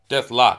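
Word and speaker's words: Deathlok: Deathstroke. Deathlock. I keep saying stroke.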